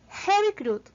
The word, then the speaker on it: heavy crude: Esto lo podemos ver por los dos punticos que acompañan a la U. Y para terminar, cerramos con un sonido más explosivo que el de una D inicial española. Entonces, la pronunciación correcta de nuestro término sería heavy crude.